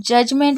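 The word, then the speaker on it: judgement: उसके बाद है जजमेंट अब जजमेंट में देखिए डी फिर से साइलेंट है क्योंकि यह तीसरे नंबर पे डी आ रहा है तो हमेशा डी साइलेंट रहेगा लेकिन याद रखिएगा सिर्फ तीसरे नंबर पे डी आने से डी साइलेंट नहीं रहता डी के साथ जी भी होना चाहिए तभी वह साइलेंट रहेगा यानी कि तीसरे नंबर पे डी है और उसके बाद जी है तो डी हमेशा साइलेंट रहेगा तो जजमेंट जजमेंट का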